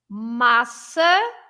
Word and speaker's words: massa: What is the difference between the two A's? I mean, the first A's, not the second A's, okay? The first A's. So I'm going to say both words. Massa, maçã. Yeah. Can you see any difference on the first A? Yes. Massa, maçã. Yeah, it's slightly more clipped in the second one.